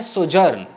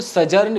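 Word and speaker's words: sojourn: अगला है सोजर्न. इसको ना, इसका जरा प्रोनाउंसिएशन चेक कर लीजिएगा. मुझे लगता है ये सोजर्न ही है. कई लोग इसको सजर्न भी कह सकते हैं, बट सोजर्न बोलिए.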